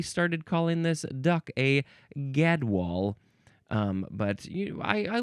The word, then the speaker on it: gadwall: Next is gadwall.